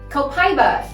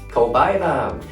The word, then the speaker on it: copaiba: Copaiba. Copaiba. I know some people have another pronounced way, right? Yes, you can also say copaiba.